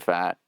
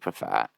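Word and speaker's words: Pfaadt: dog Ryan Nelson Brenan fat um it's not how you say it's like paat uh and then they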